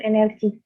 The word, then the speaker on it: energi: Gem teges3 yang ketiga ada kata energi sering kita mendengar orang mengucapkan energi dengan kata NRI NFC ataupun energik tetapi ucapan tersebut ternyata salah dalam ejaan bahasa Indonesia pelafalan yang benar ialah energi bener2 ee masalah lain yang